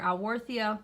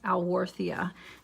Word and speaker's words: Alworthia: liquidy broke on me it might have sounded like I mispronounce the name of this plant I wore Thea and the reason that it sounds like that is because this plant has the combination of two different genera names a low being one